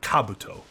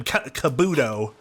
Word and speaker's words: Kabuto: I know it's pronounced it's actually said Kabuto. But us Americans that play Pokemon called him Kabuto.